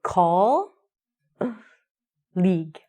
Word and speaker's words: colleague: Here's the way we say it. We say call league. So you're going to call the person.